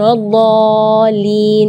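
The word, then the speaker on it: وَلَا الضَّالِّينَ: Di kalimat ini juga waladdallin yang perlu diperhatikan adalah madnya juga. Mad di situ kita harus panjang membacanya 6 harakat, karena di situ hukumnya mad lazim kalimi mutsaqqal. Jadi membacanya waladh 6 harakat. Terus setelah waladh di situ ada huruf lam yang ada di atasnya ada tasydid. Itu seringkali ketinggalan waladhdallin. Nah, itu berarti tidak ada tasydidnya.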